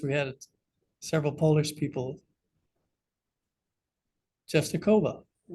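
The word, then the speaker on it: Częstochowa: Czestochowa. Like you say, Jehovah. Yeah, Czestochowa. So supposedly, tradition holds that St.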